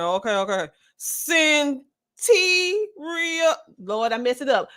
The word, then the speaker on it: Cyntiria: The pronunciation of the name is Cyntiria.